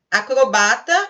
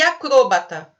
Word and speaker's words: acrobata: Então vamos lá, eu tenho, por exemplo, como dupla prosódia, acrobata e acrôbata. Todas as duas podem ser pronunciadas. É permitido. A gente nunca ouve acrôbata, né? Mas se vocês ouvirem, não está errado.